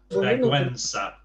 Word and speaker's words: vergüenza: It means you pronounce the U as well. So vergüenza there, vergüenza.